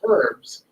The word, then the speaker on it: herbs: herbalist you call herbalist you actually put that H in there and even though it's your specialty most people leave that age silent when talking about herbs right but I noticed in each of the phrases that you've used that term you've actually put the loud H in there so that it's herbs and herbalis can you help me